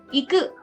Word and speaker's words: 行く: So it is pronounced 行く、 iku. 行く、 Iku. So this is e and ku. So it won't be ite.